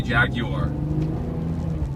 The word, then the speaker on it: Jaguar: Jaguar, or as the Brits say, Jaguar, has done an amazing job with the F-Type.